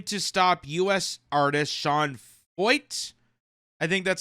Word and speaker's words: Feucht: Montreal police swarm a 1930s cathedral in to stop US artist Shan Fo. I think that's how you pronounce it. I know it looks like foed because of the ch, but apparently it's fo uh from singing prayer.